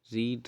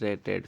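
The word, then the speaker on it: read: शी has been रीड रेड, फिर से रेड, spelling तो यही रहेगी पर बोलने का जो हमारा प्रोनाउंसिएशन है वो थोड़ा चेंज हो जाता है, रीड रेड।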